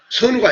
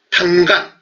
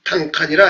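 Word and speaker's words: 單于: 선우가 아니고 당간 내지는 당칸이라 해야 된다 이거죠.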